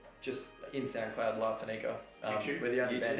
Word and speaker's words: La Tanika: La Tanika, LATANIKA. La Tanika. I think that's I don't blame people for mispronouncing it, to be honest.